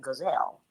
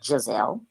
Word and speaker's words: Giselle: be getting back with Gazelle. And I know her name is pronounced Giselle.